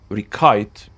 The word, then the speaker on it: Riccite: I'm pronouncing it receipt because you know, it's like a bill when you pay in the restaurants, right?